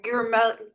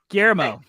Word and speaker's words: Guillermo: And how do I pronounce what's his name? Guillermo. Guillermo.